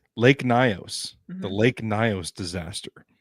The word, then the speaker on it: Lake Nyos: Lake Nyos. Lake Nyos.